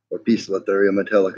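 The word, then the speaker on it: Poecilotheria metallica: one facility area Metallica a piece of ethereum Metallica is the proper pronunciation now you got to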